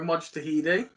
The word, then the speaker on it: Mojtahedi: today to be joined by dora dr dara mojtahidi that's how you pronounce it daria perfect mate here uh dara